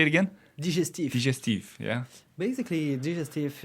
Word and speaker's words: digestif: How do you pronounce it? Digestif. Yeah. Say it again. Digestif.